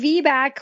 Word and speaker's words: VBAC: the myths of V yeah yeah okay so vack which is spelled VB a a lot of people want